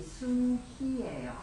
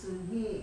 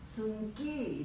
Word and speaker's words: 순희: 저한테 이태리 할머니 친구가 한 명 계셨는데 제 이름이 순희예요. 네. 그래서 What's your name? 그래서 My name is 순희 그랬더니 이분이 이태리 사람들이 희 발음이 안 돼. 자꾸 순기 이래요. 그래서 no 순희 해도 자꾸 순기해.